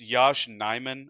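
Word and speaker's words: Yosh Nijman: The last signing that we made was it's Yash Nyman. I looked up how to pronounce it just before we started recording.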